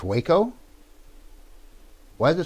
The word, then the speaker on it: Waco: It's Waco? Why is it spelled like that?